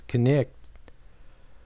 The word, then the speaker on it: knight: For example, my friend Hester Amstel explains that the one-syllable word knight was pronounced in Old English with two syllables as knicht, which explains something about why it is spelled in a funny way.